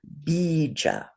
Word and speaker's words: bija: In Sanskrit, these syllables are called bija. Say bija. I wrote it down there at the bottom. B, Bija. long E, bija. Bija.